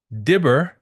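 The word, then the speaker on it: דבר: Because Dibber, which can also be pronounced Diver, but Dibber, it means word.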